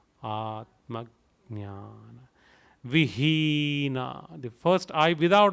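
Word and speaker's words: आत्मज्ञान: I change it to G because it is G and then Nana Gana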